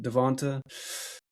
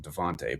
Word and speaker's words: Devonta: I think they become a little more focused on Devonta. I swear his name's Devonta. Everybody calls him Devontae, but his freaking name is spelled Devonta. It has an A on it.